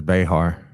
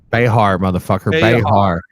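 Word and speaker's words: Behar: pissed off Joy beair how do you pronounce it beair I think she says bear bear fumes on The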